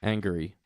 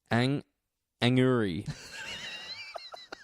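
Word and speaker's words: Angourie: Yeah, Anguri? Angry? Anguri. Anguri.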